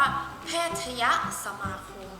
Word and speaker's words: แพทยสมาคม: ตัด ธนาคาร ออก เรา ก็ จะ อ่าน ว่า แพทยสมาคม นะ คะ แต่ อย่า ลืม ว่า คำ ที่